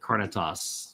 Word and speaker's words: carnitas: Uh, Chipotle told me to pronounce it carnitas.